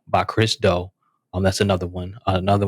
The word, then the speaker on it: Do: of dough and that's spelled d-o um like do but it's pronounced dough by Chris doe um that's another one